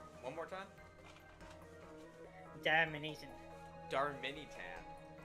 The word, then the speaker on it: Darmanitan: I thought there was an extra A after the R, so I thought it was Darmanitan. One more time? Darmanitan. Darmanitan.